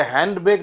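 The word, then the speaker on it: handbag: कहते हैं हैंड बैग हैंड बैग नॉट हैंड य हैंड बैग नहीं है डी साइलेंट है यहां पे इसे कहते हैं हैंड बैग ठीक है हैंड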